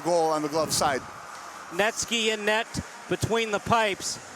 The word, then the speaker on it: Netsky: But yeah, I love that name, Netsky, for a goalie. It rhymes with Gretzky and the name Netsky, and he's a goalie.